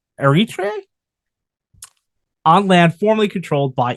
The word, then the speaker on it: Eritrea: From there, it spread out along the Horn of Africa, establishing the colony of Eritrea. Butchered that horribly. Wish I did it. It's spelled Eritrea. I'm going to call it Eritrea.